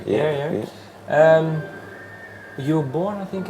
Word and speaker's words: Ayr: Well, I was wondering, you are from, I don't know how to pronounce it exactly. Ayr, yeah. Ayr.